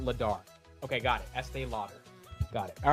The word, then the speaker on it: Estee Lauder: how do you say Estee Lauder let's see let's see EST laer AE loader AE here's the breakdown Lauder is low and then dur Estee Lauder okay so it's Estee